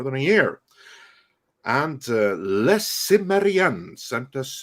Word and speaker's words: Cimmerian: And Les Cimmerian sent us $2, although I will always maintain that the proper pronunciation is Chimeria, but that's me.